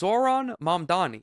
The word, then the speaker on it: Zohran Mamdani: Everyone gets his name wrong. It's Zoron Manni.